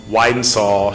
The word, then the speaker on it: Whitehall: success, and also Rebecca Whitehall. She gave me a tutorial how to say her name earlier. She said it's wide and tall, so wide and saw.